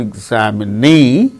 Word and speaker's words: examinee: case of the word examinee the knee fourth syllable gains stress similarly photograph photographer photograph